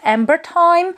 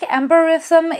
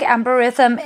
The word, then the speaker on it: Amberythme: Because the names of all three perfumes in this range are based on some wordplay, and the name of this perfume is a combination of two words, amber and rhythm.